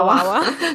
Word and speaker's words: Wawa: Yeah, Wawa.